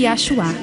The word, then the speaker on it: Yahshua: Eles chamam Jesus Cristo de Yahshua, pois é a maneira como é pronunciado na língua hebraica.